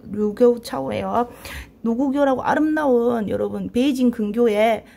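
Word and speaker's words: 盧溝橋: 이게 여러분 노구교 다리 이름입니다. 이 이거 중국 발음이 루교우 차오예요.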